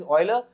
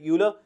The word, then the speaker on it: Euler: form euler form the the correct one institution pronunciation is euler but since in india we call it euler so euler formed drastically